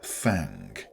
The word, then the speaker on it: thang: And yes, it's pronounced thang with that telltale twang that all the Appalachian old-timers seem to have.